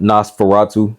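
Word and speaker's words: Nosferatu: never know how to pronoun that's how you pronounce it Nas Fatu okay I never was how to pronounce Tom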